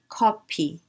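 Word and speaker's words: 커피: so k e k coffee becomes copy copy we cannot do f there is no f sound in korean so the closest approximation is pu so copy copy copy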